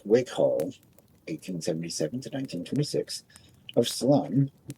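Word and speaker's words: Salome: Proceeding on the theory that every knock's a boost, Dick Wickhall, 1877 to 1926, of Salem, rhymes with home, Arizona, population 100, put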